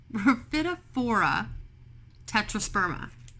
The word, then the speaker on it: Rhaphidophora Tetrasperma: I was like, how do you pronounce that? And it tells me Rhaphidophora Tetrasperma.